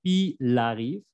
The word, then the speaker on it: il arrive: Luego tenemos lo mismo de siempre, tu arrives, il arrive, elle arrive, aunque aquí la L de il y el se va a pegar como fonéticamente il arrive. La primera sílaba sería i, como así.